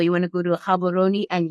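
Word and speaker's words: Gabon: want to go to habon and yes I said the G with the proper pronunciation um not then you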